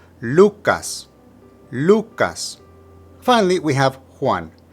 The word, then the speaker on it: Lucas: third we have Lucas the emphasis is again on the first syllable Lucas Lucas finally we have